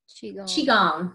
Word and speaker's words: Qigong: Qigong. Yes. Qigong. Like your qi, your energy.